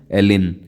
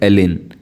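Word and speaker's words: Elgin: voice Roy थे Lord एलिन जी silent रहता है इसको प्रोनाउंस करते हैं एलिन कैसे एलिन ठीक है इनका कार्यकाल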